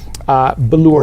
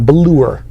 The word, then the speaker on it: Ballour: Ballour, you have to pronounce it like that. Can you say that? Balloon. No, Ballour. Manure. Ballour.